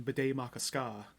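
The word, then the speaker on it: Bde Maka Ska: So it became Bidet Makaska, which I always remember because it sounds like bidet and has ska in it.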